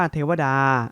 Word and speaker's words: เทวตา: สิ คิด แล้ว ว่า เทวตา อ่าน ว่า เทวดา อธิ วัฒน์ ถา ผู้